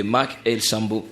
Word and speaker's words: Mackelsambo: Mais dorénavant, consommez la chanson Amani, disponible sur la chaîne YouTube de Mac El Sambo. Ça s'écrit Mac Mackelsambo. Voilà. Mac-El et puis Sambo.